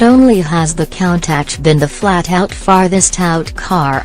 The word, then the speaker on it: Countach: You flasher Countach, pronounced Countach by the importer, and everybody gets the message.